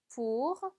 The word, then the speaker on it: pour: pour, pour. 자, 오을 붙는 경우에 발음이 우처럼 된다라는 걸 꼭 기억해 주셔야 되겠습니다. 그래서 pour로 발음해 주시면 되죠.